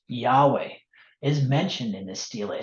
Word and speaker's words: Yahweh: god of Israel the the four letters uh yodehay which are probably pronounced Yahweh is mentioned in the